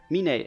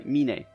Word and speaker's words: Meene: So I already forgot how to pronounce it again. Meene, exactly, Meene.